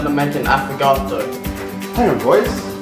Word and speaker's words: affogato: We are going to learn how to make an affogato. Hang on boys, I'm going to say it with an Italian accent. It's Affogato.